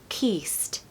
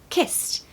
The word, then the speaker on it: kissed: short eye in Kiss we do not want to hear keast okay kissed just say it really quickly and I promise it will sound perfect one more Point sorry don't pronounce the E so the e d is almost like a t sound and so we're not going to say kiss it it's kissed kissed good luck number nine